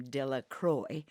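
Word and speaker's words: Delacroix: dickie de la croix the villagers pronounced his name de la croix eventually made a great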